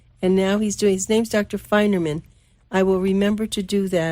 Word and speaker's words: Feinerman: His name's Feinerman, Feinerman. Wait, what's you spell it again? F is in Frank. Okay. EIN, like fine, FEIN.